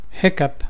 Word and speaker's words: hiccup: Hiccup has the sound of a cup.